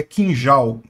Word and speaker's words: Kinjal: derrubados pelos ucranianos né Aliás a pronúncia correta é kinjal miss kinjal que foram